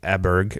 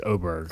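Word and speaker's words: Åberg: I like Ludwig Eberg, or however you pronounce his name. I learned yesterday it's Oberg.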